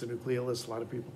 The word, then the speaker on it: nucleolus: nucleolus or nucleolus um proper latin pronunciation it's a nucleolus a lot of people pronounce the nucleolus because they didn't you